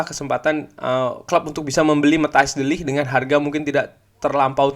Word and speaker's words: Matthijs de Ligt: Jadi dikabarkan juga Erik ten Hag ini ingin menggabungkan ya Frenkie de Jong dan juga Matthijs de Ligt, itu bacanya Matthijs de Ligt ya, di Manchester United.